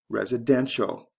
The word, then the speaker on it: residential: follow the same patterns residents residential first syllable to third syllable c e to t i a l confidence confidential first syllable